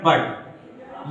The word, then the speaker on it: but: लेकिन इनका प्रोनाउंसिएशन अगर बात करेंगे तो ये अलग अलग होता है। जैसे ये इसको हम कह देते हैं पुट, इसको क्या पढ़ते हैं पुट, लेकिन इसको क्या पढ़ते हैं बट।